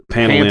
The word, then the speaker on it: Pantoliano: Pantoliano.